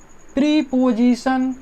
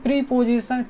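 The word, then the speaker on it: preposition: प्रीपोजिशन, हम लोग बचपन से क्या बोलते हैं, प्रीपोजिशन, प्रीपोजिशन नहीं, प्रपोजिशन, क्या बोलते हैं, प्रपोजिशन, ओ नहीं आ, प्रपोजिशन, प्रपोजिशन।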